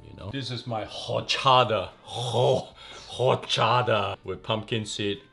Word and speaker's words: horchata: pumpkin scent rim chipotle horchata yes horchata or chat i think it's actually pronounced you don't say the h you say or of course we use